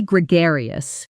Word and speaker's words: gregarious: He's incredibly gregarious. Within 10 minutes of arriving at the party, he already knew everyone's name. Pronunciation. Gree. Gio. The stress is on the second syllable.